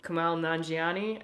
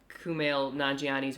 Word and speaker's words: Kumail Nanjiani: And then Kumail Nanjiani, I think is how you say his name. Kumail Nanjiani, yeah.